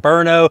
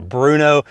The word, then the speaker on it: Brno: it's FK BRN Oh some people pronounce it burn oh when I first received the firearm I was calling it the Bruno but if you're familiar